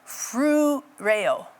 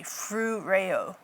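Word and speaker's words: φρουρέω: And I like this word guard because in the Greek it's phroe, I never quite say it right, phroureo. Like, yeah, it's tricky, phroureo.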